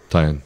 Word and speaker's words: Taeian: And Taeian and I actually, that's how you pronounce it, right? Yeah, yeah. Taeian.